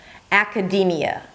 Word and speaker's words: academia: So it's not aka. Ak. D. High E. So pull your lips to the side. And then another high E, but a little lower in pitch because it's not the primary stress. Academy. And then it's a Y sound and another schwa. Y. It's like you're very cool about it. Y.